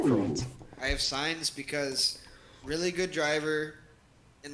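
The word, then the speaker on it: Sainz: actually said it right for once i have signs because really good driver in this yeah i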